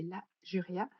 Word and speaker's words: La Juria: Ouais, Alors normalement, je sais que, bah, notamment sur mon site et cetera, ça s'écrit tout attaché, mais en fait, c'est La Juria.